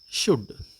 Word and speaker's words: should: அடுத்தது நாங்க பார்க்க போறது சுட் என்ன சுட் என்று சொல்றது வேண்டும் என்று அர்த்தம் அதாவது நாங்க புத்திமதி சொல்றதுக்கு அதுகளுக்கு பாவிக்கலாம் வேண்டும் என்ன அதாவது சுல்ட் என்று உச்சரிக்க கூடாது என்ன எல் சைலெண்ட் ஆகும் எல் உச்சரிக்காது அப்ப நாங்க இந்த சுட்டுக்கு பக்கத்துல